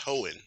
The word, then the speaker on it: Hoenn: Keep mispronouncing that. It's Hoenn. There's no N right there. I don't know why I do that. Hoenn, you're right. It's easier than I'm saying it.